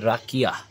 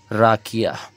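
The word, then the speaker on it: rakija: उच्चारण किया जाता है . यह लिखा हुआ है और के आई जे, राकिया, राकिया .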